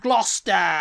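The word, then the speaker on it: Gloucester: letters yeah gluster yeah gluster cuz you're not pronouncing the E the e that's in the middle of the word either it's not about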